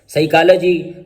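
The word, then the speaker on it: psychology: Silent P, पी इज not pronounced at the beginning of many words using suffix. ये PSYCH, जब ये वाला suffix या PNEU यानी ये दोनों लैटिन सफिक्स हैं, जब ये शुरू में आ जाए तो उसमें पी आमतौर पर नहीं पढ़ा जाता। जैसे साइकोलॉजी, नमूनिया।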